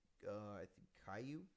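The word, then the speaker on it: Kaue: I'd be dumb to knock his name is Caillou Caillou Fernandez Caillou okay it's spelled k a u e ku ku he's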